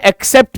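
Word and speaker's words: except: जैसे मैं बोलूं एक्सेप्ट तो इसकी दो स्पेलिंग हैं। पहली स्पेलिंग है A double C ई पी टी और दूसरी स्पेलिंग है ई एक्स सी ई पी टी। अब दोनों को ही मैं एक्सेप्ट पढूंगा।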